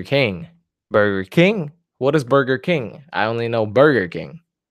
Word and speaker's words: Burger King: go to Burger King not Burger King Burger King the stress is on the first word I'm going to go